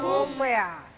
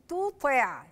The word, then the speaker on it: تطع: ربك ولا تطع منه تطع تو تو تطع تاء وطاء والاتنين دي رقيقه تا تو وطا مفخمه فلازم اميز بين الاتنين في الايه في النطق ولا تطع ولا تطع